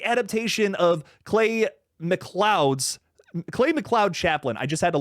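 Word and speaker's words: McLeod: Um, and it's the adaptation of Clay Mloud's Clay Mloud Chaplain. I just had to look that up because I'm like, how do you pronounce that that middle word there? Miklo. No, Mloud.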